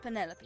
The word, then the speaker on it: Penelope: for penelope officially yes but i never can be bothered with all four syllables at it penelope sounds a little ostentatious